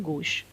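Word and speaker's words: gauche: इसको प्रोनाउंस करते हैं गोश, और इट is associated with clumsiness.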